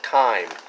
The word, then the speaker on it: Thyme: found these at fresh thyme spelled like the herb th why me I guess it makes